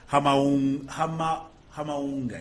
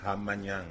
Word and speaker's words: Hamanyanga: Hamaunga. Is it? Did I pronounce it correctly? Hamanyanga. Hamanyanga. Yes.